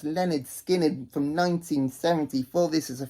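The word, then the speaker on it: Lynyrd Skynyrd: best debut albums ever this is Leonard skinnard pronounced Leonard skinnard from 1974 this is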